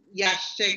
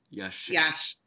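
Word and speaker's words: Ya'axché: It's Yashte Conservation Trust. Yashte.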